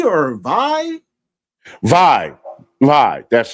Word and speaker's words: Vie: And do you pronounce it V or Vi? Vi. That's right. Yeah. Yeah, because it's VIE. Yeah, Vi. It's kind of like die, so Vi.